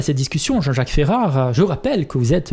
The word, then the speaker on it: Ferrara: Si les gens veulent le prononcer correctement, c'est sûrement Ferrare, mais puisqu'avec l'intonation... c'est un nom d'origine napolitaine, hein, donc... Il y a un seuil de tolérance, on dira. Voilà, et puis Ferrara, mais tout me convient.